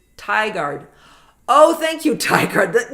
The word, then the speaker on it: Tigard: Moab good morning Karen Frank Goodman says it's Tigard oh thank you Ard